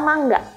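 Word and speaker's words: 漫画: novelnya Jepang itu adalah mangga Tapi ini masih banyak yang ngucapin itu manga Wah jangan tertipu karena penulisannya mangaia padahal dibacanya itu mangga loh tapi artinya bukan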